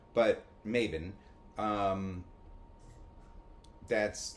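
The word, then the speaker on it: Mabon: I I I still think it should be pronounced Maybon. But, Maven.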